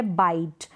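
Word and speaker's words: white: आएगा ना लास्ट में उसका उच्चारण नहीं होगा साइलेंट रहेगा जैसे यहां है व्हाइट अब हम यह ए रही है ना इसका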